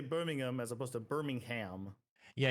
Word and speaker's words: Birmingham: It's like there's a there's a town here called Burmingham, but the way I say it is Birmingham where it doesn't sound like I'm saying the H anymore. Birmingham.